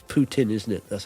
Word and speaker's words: Putin: I say it's Putin, isn't it? That's how you pronounce it, like a tin full of poo.